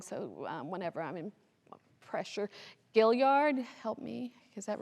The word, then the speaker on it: Gilliard: this name wrong, so whenever I'm in pressure, Gilliard, help me, is that right? Did I do it right? Gilliard, thank you. Bartholomew Gilliard received the first grant for 500 acres in 1710. And Gilliard, who acquired additional land in the area known